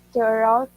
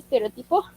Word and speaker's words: stereotype: Um, I love that she had like a different um, stereotype. Stereo, how do you say stereotypo?